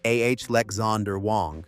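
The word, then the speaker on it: Alexandr Wang: that former scale AI CEO Alexander Wang for pronunciation ah Lexander Wong is running.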